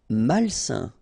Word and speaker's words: malsain: Malsain. A-I-N together, it's a nasal and it's malsain.